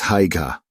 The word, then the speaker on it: Haigha: His name is Haigha.” (He pronounced it so as to rhyme with “mayor.”)